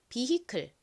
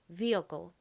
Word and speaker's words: vehicle: 그래서 vehicle이라고 발음이 되는데요 그런데 미국 사람들은 이 부분을라고 발음하기 보다 힘 빠진 어처럼 발음하는 경향이 있습니다 그래서 미국식으로이 단어를 발음하면 클이 아닌 vle vle처럼 발음이 됩니다이 끝부분도 한국식으로는 클이라고 보통